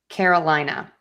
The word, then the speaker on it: Carolina: So, for this word, we have a lot of schwas. We have car, which is awah, a lina, and we have that second schwah. So, Carolina car Carolina. Yes, we do have some secondary stress on the care. But because we're working a little bit more on unstressing things, let's think about really just having the main stress on the lie.